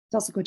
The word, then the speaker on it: Tulsaquah: Tulsaquah Chief Mine.